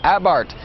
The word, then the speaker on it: Abarth: with the Fiat 500 abart it's spelled a b a r t h but the H is silent and the a is pronounced ah as in ah what happened to that